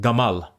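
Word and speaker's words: גמל: other Semitic languages so in Hebrew camel is pronounced Gamal similar to Egyptian Arabic G so even though in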